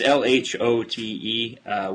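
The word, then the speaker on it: L'Hôte: it's Lhote, which is both the guest and the host in French, which was a joke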